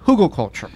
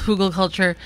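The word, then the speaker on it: Hügelkultur: of the term came from, but it's called Hugelkultur. Yes, and it's called Hugelkultur.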